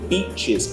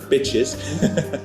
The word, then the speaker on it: beaches: We don't just say Da Nang, we say the breathtaking beaches of Da Nang. By the way, guys, be a little bit careful with your pronunciation. Beaches, not bitches.